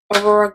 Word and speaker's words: Aurora: So I'm actually going to take the Anastasia Beverly Hills Aurora, yeah, that's how you pronounce it, Aurora Glow Kit, and I'm going to go into the shade Luna, which is this middle white highlight shade.